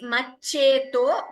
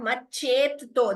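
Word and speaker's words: मच्चेतो: It is maccheto. Please note, it is not maccheto. There is no extra tha there. Maccheto hrada bhuvi Shivanandalahari.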